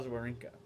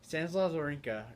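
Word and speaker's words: Wawrinka: him the warrior cuz his name is spelled w a w r i n Ka so war with a W there ear um if you're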